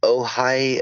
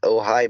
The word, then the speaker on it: Ojai: I was in the Ojai, OJHI is spelled really weird, Ojai Mountain Range of California.